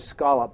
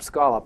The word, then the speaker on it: scallop: from New England because we pronounce the word scallop scallop and not scallop uh so scallops used